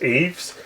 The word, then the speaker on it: Ys: I believe it's pronounced Eves.